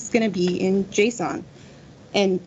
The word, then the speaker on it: JSON: going to be in Json and it's Json not Json in case anybody was wondering but you've got strings